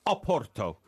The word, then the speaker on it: Porto: If you were Portuguese, you would pronounce Porto Oporto. Oporto. That's what it is in Spanish. But when in England, we do not pronounce Porto Oporto. We pronounce it Porto.